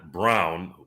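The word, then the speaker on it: Braun: they drafted like uh bro Brown spelled like Brawn yeah I know and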